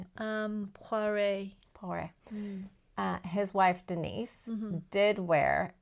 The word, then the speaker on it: Poiret: You're better at pronouncing it. Poiret.